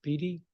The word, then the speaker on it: Bey: um Miss Bey and your last name is pronounced Bey it's Bey yes okay um you're